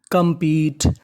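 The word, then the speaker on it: compete: ई टी ई पीट कंपीट कंपीट के आखिर में लिखा है ई अगर आपको इंग्लिश की किसी भी मीनिंग के आखिरी में ई लिखा मिले तो आपको ई उच्चारण नहीं करना तो मीनिंग मनी कंपीट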